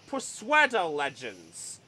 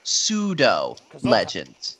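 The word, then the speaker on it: pseudo-legend: has one of the what's known as the persuader legends I'm actually actually Chris it's pronounced pseudo legends thank you but yes we found this one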